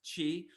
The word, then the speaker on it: chi: often two-letter words, like this word, which is pronounced chi, or the word spelled za, za, which is short for pizza.